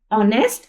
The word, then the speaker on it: honest: इसी तरह देखिए HONEST, ऑनेस्ट। ऑनेस्ट रीड किया जाता है, एच यहाँ पे हमारे पास साइलेंट हो जाता है।